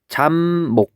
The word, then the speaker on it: 잡목: 그러니까 이 얘기가 뭐냐면 얘 잡목을 발음하면 어떻게 돼요? 이렇게 잡목이라고 돼 있고 얘를 발음해 보면 잠목 이렇게 돼서 지금 비읍이 미음으로 바뀌었잖아요.